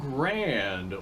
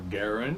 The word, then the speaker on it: Garand: This is an M1 Garand, or Garand, however it is you feel like pronouncing that.